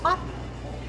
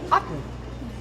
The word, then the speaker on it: Aughton: It's spelled Aughton, and so people would say to me, "Where are you going to perform?" And I would say, "Otten," and they'd go, "Where?" And I'd say, "Otten, Otten."